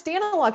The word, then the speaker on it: Daniluk: Am I saying your name wrong? How do you say that? No, it's Daniluk.